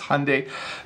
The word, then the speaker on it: Hyundai: Some people pronounce this wrong. My understanding is that the pronunciation is Hyundai.